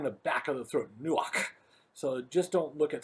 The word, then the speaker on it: nuach: know pronunciation in english it's a hard ch almost a k sound where we almost spit that word out you know like from the back of the throat nuach so just don't look